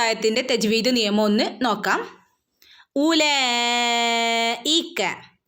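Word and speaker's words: أولئك: ഉലൈക, ഇവിടെ നോക്കൂ, വാവിന് ശേഷം ഒരു അലിഫിന് ശേഷം ഒരു വാവിൻ്റെ മുകളിൽ സുക്കൂൻ അല്ലേ. അപ്പോൾ ഇവിടെ നമ്മൾ ഈ ഒരു ചിഹ്നത്തിന് വാവിൻ്റെ മുകളിൽ ഇങ്ങനെ സുക്കൂന് വന്നാൽ ഇവിടെ പ്രത്യേകിച്ച് ഇതിനൊരു ഉച്ചാരണം ഇല്ല. ഇതിവിടെ സൈലൻ്റ് ആണ് കേട്ടോ. അതിന് പ്രത്യേകിച്ച് ഒരു ശബ്ദം ഇല്ല. നമ്മൾ എന്ത് ചെയ്യുക, സാധാരണ പോലെ കൂട്ടിച്ചേർത്ത് ഓതി പോവുക.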